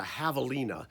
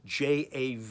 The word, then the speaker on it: javelina: special animal called a javelina j-a-v-e-l-i-n-a the j is pronounced h javelina looks like a